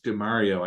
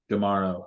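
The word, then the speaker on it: D'Amaro: the Josh DeMario, I hope I pronounced his name right. Uh did I pronounce that right? Not sure. Tomorrow? Oh, Josh DeMauro.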